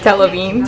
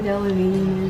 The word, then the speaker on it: Delevingne: Delavine. Delavine? What rhymes with Delavine? Queen? No, jumping up and down. Cara Delevingne.